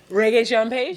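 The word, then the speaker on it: Regé-Jean Page: it's rage oh my God I can never pronounce his name reggae Jean page yes thank you reggae what is it Fraser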